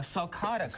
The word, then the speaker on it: sulcata: An African, how do you say it, sulcata? A sulcata, correct, Doug, yes.